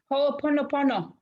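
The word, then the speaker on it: Hoʻoponopono: Hooponopono.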